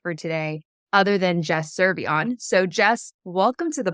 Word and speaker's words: Cervellon: of that's perfect for today other than Jess seron so Jess welcome to the pod thanks Phoenix also thanks for pronouncing my last name correctly love that they're